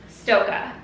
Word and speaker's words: Stokke: this wrong I want to just call it stoy at first but when I looked it up it's actually pronounced um Stoka so the reason we went with Stoka is